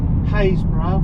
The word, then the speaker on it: Happisburgh: Pronounce things very odd, not as odd as they do in Norfolk, where you've got Wyndham, which is spelt Wymondham, Haysborough, which is spelt Happisburgh.